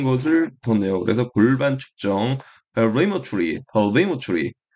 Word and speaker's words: pelvimetry: 그래서 골반 측정, pelvimetry. 이 강세가 앞에 있으니까 매추리가 머추리가 되었네요.